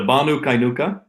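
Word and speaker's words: Banu Qaynuqa: happy relationship with vanu kuyanka uh can you pronounce that for me the banu kainuka nuka nuka yep uh so what went wrong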